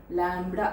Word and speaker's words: lambda: So it is called wavelength, and it is represented by the Greek word lambda, Lambda. Lambda anbadu B is silent, lambda, children.